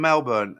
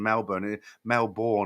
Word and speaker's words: Melbourne: Alan, hi from Melbourne. I always get told off for pronouncing Melbourne or Melbourne. I get all the Australians like, you don't say it like that.